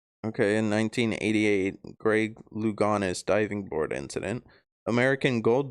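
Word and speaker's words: Louganis: Um, you did pronounce his name wrong. Oh, did I? Yeah, it's Luganis. Luganis.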